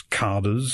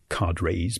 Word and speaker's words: cadres: And the local officials, referred to as carders, sometimes pronounced as cadres by Americans, the local carders have to whip up the workforce in one drive after the other.